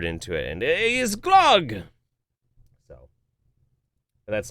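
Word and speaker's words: gløgg: maja muffin it's called glog the O is pronounced almost like the EA sound of the word early blag blag according to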